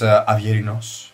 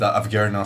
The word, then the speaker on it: Avgerinos: In Greek it's Avgerinos, but I pronounce it Avgerinos so that you guys can understand it a bit more easily.